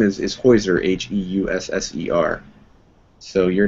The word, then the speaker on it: Heusser: it's new for everybody my name is is hoiser h-e-u-s-s-e-r so your names are more pronounceable than mine but uh you've got five